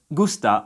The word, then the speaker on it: gusta: When spoken in a sentence, gusta sounds more like gusta, and antes sounds more like ante.